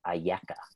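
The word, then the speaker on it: אַיֶּכָּה: what's interesting is that with different vowels the same four letters that spell the word can be pronounced ayaka which means where are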